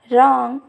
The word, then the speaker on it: wrong: If we see the condition, W is not pronounced at beginning of word when it is before the letter R. If we see the examples, right, rest, wrong, etc.